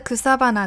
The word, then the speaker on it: 草花: 像是 kusabana 这个词，草跟花是属于修饰关系，所以它会连浊。